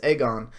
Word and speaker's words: Aegon: are you talking about everyone saying egg on cuz we just confirmed it's egg on maybe the two egg